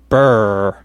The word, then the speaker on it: brr: here a expression spelled BRR which we would pronounce as BRR BRR is when you're cold and when you're